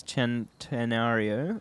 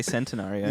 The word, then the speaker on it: Centenario: its name is um its name is chen tenario because of the you're not saying it very confidently i'm not because it's hard to say sentiment well i want to say centenario yeah because it's spelt centenaria yeah but yeah anyway